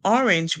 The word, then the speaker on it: orange: all a n and then G comes before E because it comes before E it's going to make a sound like J so we're going to